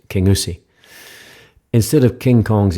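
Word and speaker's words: Kingussie: Highland Wildlife Park near the small town of King gasi it's actually properly pronounced King USI instead of King Kong Kong's escape the locals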